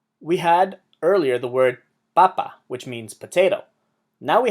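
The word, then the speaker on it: papá: in a vowel however the word has an emphasis on the last a not the second last one so we have to write the accent and it tells you how to say the word it's not Papa it's Papa the word this I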